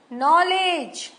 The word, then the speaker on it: नॉलेज: एच नहीं बोला गया नाउ इन वर्ड में के साइलेंट है नो नाइट नॉलेज के तो नहीं बोला हमने के साउंड क क नॉलेज तो नहीं बोला हमने नॉलेज बोला तो के जो है यहां साइलेंट है और अगर आपने नॉलेज